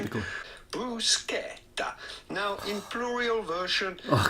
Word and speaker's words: bruschetta: dish in Italian with the typical Italian pronunciation. Typical. Bruschetta.